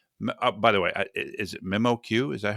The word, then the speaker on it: MemoQ: Mark Shriner is the strategic sales director for By the way, is it MemoQ? Is that how you pronounce?